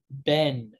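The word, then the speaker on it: בן: b sound but um when it starts when a a syllable starts with the letter bet it's going to have a harder sound so you have the word for son ben and the word for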